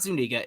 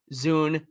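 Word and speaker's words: Zúñiga: got uh guio Zuniga oh wait a minute no it's not Zuniga it's guo Zuna yeah soon I was listening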